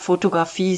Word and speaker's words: Fotografie: Notice the G sound is pronounced as a guttural CH sound similar to the Scottish loch.